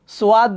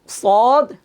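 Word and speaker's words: صاد: আমরা এখানে কিন্তু অনেকে ভুল করি, আমরা পড়ি কি সোয়াদ, দোয়া, তোয়া, জোয়া, আইন, গাইন। ছোটবেলা আমরা অনেকে শুনেছি, এটা ছোটবেলা আমরা নিজেরাও পড়েছিলাম। তবে আমরা যখন উস্তাদদের কাছে গিয়েছি, তখন উস্তাদ আমাদেরকে সঠিকটা শিখিয়েছেন যে সঠিক উচ্চারণ হবে সদ, যদ, ত, য, আইন, গইন। গাইন হবে না, গইন হবে।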